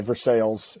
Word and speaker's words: Versailles: Louisiana Versailles Treaty of Versailles Versailles is how you pronounce it um thank you but